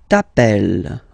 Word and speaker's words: t'appelles: All right, second form, tu t'appelles. Okay, remember, final S not pronounced.